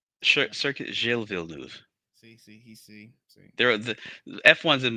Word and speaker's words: Villeneuve: pronunciation is horrible. You can do it. Villanueva. Circuit Gilles Villeneuve.